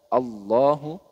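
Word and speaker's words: الله: Taf atau lam tafhim Jadi bagaimana cara membacanya yaitu dibaca tebal bunyinya khotamallahu Allahu khatamallahu bukan khotamallahu ya tapi khatamallahu jadi Allahu nah seperti itu jadi dibaca te tebal sedangkan lam tarkik itu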